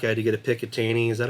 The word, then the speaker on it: Picatinny: I had to get a Picatinny. Is that how you say it? Picatinny.